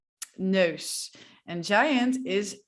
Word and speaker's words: neus: Okay, sound number 4 that is a little bit weird is oh. I kind of feel like a seal. It's like oh, or like a dog, I guess. But this is definitely a sound that we use in the Dutch language. For example, if we're trying to say nose, it's neus, neus.